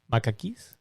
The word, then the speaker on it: macaque: Macaques? Nope. So the monkey's name is spelled Macaques.